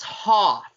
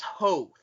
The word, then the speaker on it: Hoth: on and so forth he mispronounces hoth as hope like seven times it's the year 2003